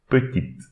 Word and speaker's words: petite: This E we should not pronounce, but instead we should pronounce the T. Petite, petite.